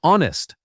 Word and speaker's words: honest: The here is silent, too. It sounds like honest.